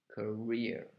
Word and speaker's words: career: all is part of your career you pronounce this part of the word there's the stress career and then you have the